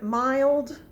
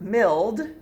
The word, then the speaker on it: mild: vowel in the word mild but it's not going to follow the vowel rule because it actually sounds long so it's not one vowel saying it's short sound it's not milled it's mild but we're not going